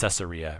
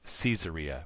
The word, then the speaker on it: Caesarea: Instead of, we always call it Caesarea, right? And it was like Caesarea.